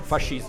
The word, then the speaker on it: fascismo: Fascismo. Fascismo. Yeah. Yeah. It's the same with a no at the end.